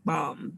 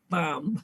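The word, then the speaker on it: balm: there's a healing quality we call it a healing bomb b-a-l-m sometimes it sounds like i'm saying healing bomb theo but i'm saying healing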